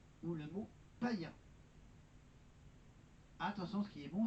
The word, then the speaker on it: païen: Enfin, le tréma permet d'indiquer qu'il faut prononcer deux voyelles séparément. Il est toujours placé dans la seconde voyelle. Hir, égoïste ou le mot païen.